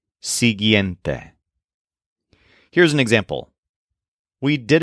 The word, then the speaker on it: siguiente: meaning it follows but the adjective sente is a particularly complex word with a lot of vowels s i g u i e n t e sente here's an example we